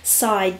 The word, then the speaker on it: Psy: we will be using the cards from the side deck which is spelt P sy and that is what it